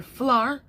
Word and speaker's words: flour: This is one syllable. One. So there's a difference between the powder flour and the flower. Okay? OU is a diphthong. It has one sound, and that's ow.